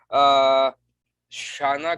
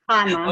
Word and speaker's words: Hana: Our fourth speaker is Ms. Shana. Did I pronounce it right? No. Oh. That's okay. It's Hana. Okay.